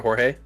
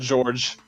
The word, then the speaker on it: Jorge: Oh, that's how you pronounce it, Jorge? That's how I pronounce it. I would bet money that it is. Okay, well, Yeah, I'm pretty uncultured. I would would have said George.